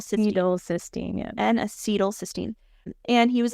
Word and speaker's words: N-acetylcysteine: is N-acetylcys- How do you say N-acetylcys- N-acetylcysteine, yeah.